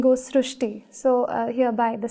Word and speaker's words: Srushti: Sir, in Marathi, the word "r" is pronounced as "ru". So, that is why the pronunciation goes Srushti.